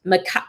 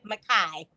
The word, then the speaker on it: Micah: Nana to her loving grandson, Micah, pronounced Makai. How do you say it? Makai. Mary Kay, she has accomplished